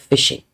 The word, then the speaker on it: phishing: Please note, phishing. It is spelled with a PH, but you pronounce it phishing.